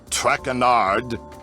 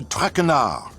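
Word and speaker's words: Trachenard: as for my name not trackonard it is Jean-Michel trachana Sean Michelle trachnard enough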